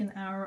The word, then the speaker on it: hour: that word is good that letter is going to make the word our like an hour on that clock isn't that right then